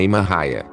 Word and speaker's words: Maria: Maria, cuja pronúncia é Maria, nasceu em 1844 em uma fazenda de Lisbon, Ohio.